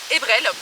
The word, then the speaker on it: Ebrel: Alors cette chienne s'appelle Ebrel, ça s'écrit E-B-R-E-L et ça veut dire avril en breton.